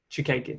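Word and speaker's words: Chookagian: All I know is she has lost her last fight against Caitlin Chukagian. I can never pronounce her name. I think that's how you say it. Chukagian.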